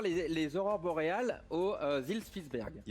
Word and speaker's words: Spitzberg: aurores boréales aux îles Spitzberg. Il y en a un qui est plus simple que l'autre. Ouais. Les îles Spitzberg. Spitzberg. Spitzberg. Spitzberg. Ok. Ouais. Alors je l'ai prononcé à la française, mais donc ce sont des îles.